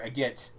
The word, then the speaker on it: Agate: There's a village called Agate. Or Agate, apparently, is actually how it's pronounced. But I'm going to keep calling it Agate because I'm from the south.